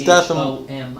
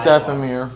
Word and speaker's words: Dathomir: I don't know that I'm pronouncing it correctly. D-A-T-H-O-M. It's Dathomir. Yeah, it's Dathomir.